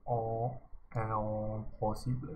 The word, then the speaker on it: impossible: No, no, notice the nasal vowel here. Oh, impossible.